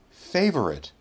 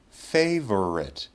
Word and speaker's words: favorite: page I can say favorite three syllables favorite my chin goes down three times or I can say favorite two syllables favorite my chin goes down twice that is an example